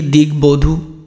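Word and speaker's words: দিগ্বধূ: ব ম বলেই দিয়েছি, গ এর সাথে বয়ের সাথে ময়ের সাথে যদি ব থাকে তাহলে বটা উচ্চারণ হবে, তাহলে দিগবধূ।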